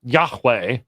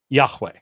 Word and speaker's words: Yahweh: is will say, look, given the letters and given the relationship possibly to the verb that means to be, haya, in all probability, the pronunciation would have been Yahweh.